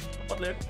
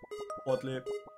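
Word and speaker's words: Bolli: Butler. Butler. It's also like a not very common though, but there are people. Butler. It's written B-O-L-L-I. Butler. It is said like that.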